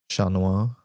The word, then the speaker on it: chat noir: Just mentioning chat is pronounced chat. Oh, because it's French. Chat noir.